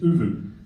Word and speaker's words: Oovvuu: as Ricky, launched Oovvuu, a partnership, yes, correct pronunciation? Yes, Oovvuu.